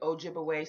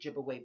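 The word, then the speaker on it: Ojibwe: Some people pronounce it Ojibaway, some people pronounce it Giveaway, but they had something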